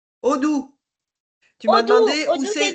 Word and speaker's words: Odoo: question, c'est sur Odoo. Odoo. Tu m'as Odoo, demandé où Odoo, c'est c'est, d'où? sur Ça quoi?